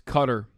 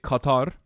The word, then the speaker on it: Qatar: How do you actually pronounceqatar? It's cutter. In Turkey, we say Qatar.